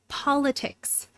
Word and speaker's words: politics: You can study politics. You can study politics. You can study politics. It can study politics. It can study politics. Polit politics. Politics. Politics. The first syllable is stressed.